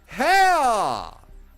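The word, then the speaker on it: Haigha: His name is Heha, pronounced it as to rhyme with mayor. Hea.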